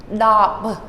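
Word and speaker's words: ដប់: So you might be tempted to say dop, dop, but it's simply stopping it. Do not let the B sound come out. Dop, dop. Okay? No pronunciation there at the end.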